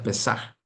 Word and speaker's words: Pesaj: Si se pronuncia Pesaj.